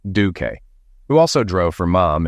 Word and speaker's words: Duke: We hired a new waiter for Richardson's Garden, a retired Navy chief named Duke, pronounced Duque, who also drove for Mom and moved into a spare room at her house to assist her if needed.